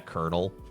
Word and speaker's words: colonel: Yeah, colonel. And it's like it's like the French spelling but the English pronunciation.